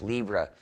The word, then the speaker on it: Libre: in freedom is to say Libre or Lieb or pronounce it as an English Libra software free slash Libra